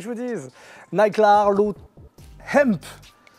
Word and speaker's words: Hemp: Nike Larlo Hemp. C'est important de prononcer le H en américain.